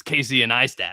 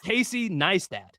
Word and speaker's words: Casey Neistat: His name just starts with an N, guy. Like, why do people put a whole ass other syllable before the N?